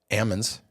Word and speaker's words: almonds: like Chico you know they have Ammons right right so it's you know the rest of the world says almonds but I like when they always say well how do you say salmon you know it's like